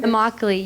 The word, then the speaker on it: Immokalee: Immokalee, yes.